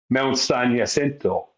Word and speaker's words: San Jacinto: We're actually not saying it right either, because it would be Spanish. So it would be Mount San Jacinto. That would be the correct way to say it, or not?